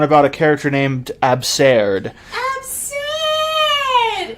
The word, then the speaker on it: Abserd: Abserd is the correct way to say it.